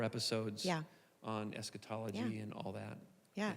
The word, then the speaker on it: eschatology: And we're going to talk about eschatology.